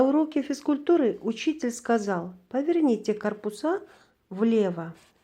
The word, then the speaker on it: корпуса: На уроке физкультуры учитель сказал: поверните корпуса влево. Бул жерде корпус деген сөз көптүк түрдө корпуса деп деген мүчө уланып, анан ошого ударение түзүлдү.